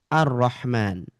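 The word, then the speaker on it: الرحمن: Nah, mungkin Bapak Ibu juga bertanya, kok kenapa lamnya ini nggak dibaca? Nah, kan di sini ada lam. Kenapa dia tidak dibaca? Kenapa ini? Nah, jawabannya adalah karena ada huruf ro bertasydid. Tuh, jawabannya karena ada huruf ro bertasydid.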